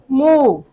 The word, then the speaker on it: move: मूव। माँ में ऊ की मात्रा डाल दी और वी का व, और इस ई का उच्चारण नहीं हुआ। ठीक है, ये हो गया मूव।